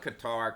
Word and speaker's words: Qatar: I call it Qatar because it's spelled Qatar, not Qatar. If it was cutter, it would be cu t.